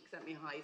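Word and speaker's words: Csikszentmihalyi: Um Mihi you know you're a games researcher when you learn how to pronounce this chap's name. Um sent me high says that flow is an optimal state of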